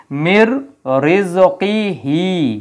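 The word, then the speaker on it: مِن رِّزْقِهِ: ইদগাম হয়ে যায় তখন নুনের উচ্চারণ হয় না উচ্চারণ না হয়ে র এর উচ্চারণ হয় এর উপর একটা তাসদি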